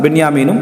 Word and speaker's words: பென்யாமீன்: இந்த ராஹில் என்ற மனைவிக்கு பிறந்தவங்கதான் பென்யாமிீனும் என்ன? யூசுப். சரியா? புன்யாமீன் அல்லது பென்யாமீன். இரண்டு மாதிரி உச்சரிப்பும் இருக்கு.